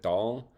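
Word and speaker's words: dal: of your your background how you pronounce that food is it doll yeah that's dull yeah doll okay and I was excited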